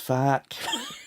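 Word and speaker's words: FAAHQ: fight against fa regulation it's called f-a-a-h-q pronounced fact i can't believe you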